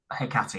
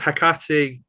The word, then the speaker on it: Hecate: I think both for Hecate and Ba'al, actually. Is that right? Yes. So with Hecate, you're rubbing off on me with how you Yeah.